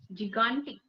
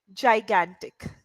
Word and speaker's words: gigantic: confusion is coming uh the first G has I after it yeah so this will be J and the second G has a after it that that means it